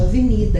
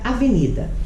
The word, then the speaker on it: avenida: Por exemplo, a palavra avenida. Avenida, avenida. Qual é a sílaba tônica? Mi.